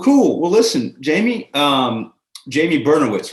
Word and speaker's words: Bernowitz: Well, listen, Jamie, Jamie Bernowitz, right? Am I pronouncing that right?